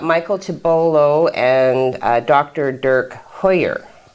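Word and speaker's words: Huyer: tobolo and dr dirk hoyer hoyer that's weird the way it's spelled makes you hold your mouth a certain way h-u-y-e-r okay okay well that's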